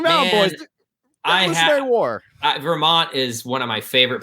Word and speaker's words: Vermont: and of course like i don't pronounce my t's like the i say vermont vermont and um so like